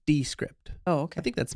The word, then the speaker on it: Descript: number one is descript I like to pronounce it descript because it's not this script I think it's descript oh okay I think